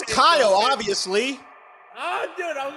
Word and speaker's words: Khial: It was Kyle the entire time.